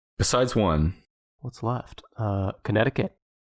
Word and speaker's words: Connecticut: one what's left uh connecticut connecticut is number three what a interesting little hint for how to pronounce the word you just say connect and then again i cut i cut yep cut connect and